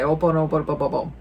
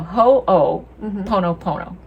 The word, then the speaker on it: ho'oponopono: ho pono pono which in previous episodes you'll hear me say oh bonobo i didn't know how to say it and now i know ho oh no opono right no ho o pono pono ho o pono pono because ho o means to make or create and pono means right